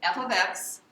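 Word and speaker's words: f(x): it's set equal to f of X so f of X that's how you say it f of X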